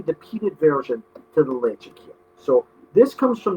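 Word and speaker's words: Ledaig: So even though people will look at it and say Ledeich, it's pronounced Lechic.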